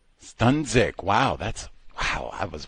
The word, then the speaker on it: Sdunzik: Can you pronounce your name so we can say it correctly, please? Ma'am. Stunik, one more time, please. Stunick. Stunzic.